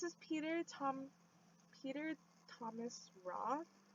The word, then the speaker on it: Roth: peter tom peter thomas roth i almost said peter thomas raw i said it wrong but okay so this